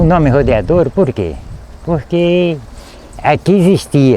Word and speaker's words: Rodeadouro: nome não tava correto Por quê que é pronúncia não era rodeador e sim a pronúncia certa seria Rodeadouro E aí a gente